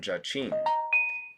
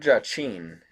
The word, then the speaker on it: Jachin: of the two names the word jachin in hebrew is well i'm not gonna i'm just going to read over this it is probably pronounced ya kyan and men as a